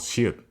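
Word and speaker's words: 시옷: This consonant is called shiut, and it is the sound you make when your tongue touches your upper tooth, which sounds kind of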